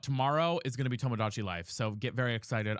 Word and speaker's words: Tomodachi: I thought it was Tomogachi. No, Tomogachi is like the little pets you used to carry around. It's Tomodachi, so it's with a D, not a G.